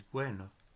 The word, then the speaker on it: bueno: them with your lips so we'll take B and we have the word for good which is bueno so I barely mentioned the B we put my lips together but it's just a very soft bit but we're not see